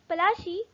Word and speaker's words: Plassey: The location was, this battle was fought in Plassey, which is pronounced as Palashi, which is in Bengal.